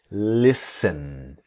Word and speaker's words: listen: Now here in the word listen, the T is silent. So we don't we do not pronounce listen but listen.